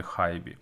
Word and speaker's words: HiBy: хібі р-2 другого покоління звісно я знаю що компанія правильно читається як hibi Але ж ми всі її називаємо її хібі тож не будемо страждати намагаючись вимовляти хайбі хоча інколи мабуть мене